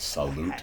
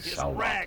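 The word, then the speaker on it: Saulot: I don't know why they spell it and pronounce it salute. It's S-A-U-L-O-T, salute.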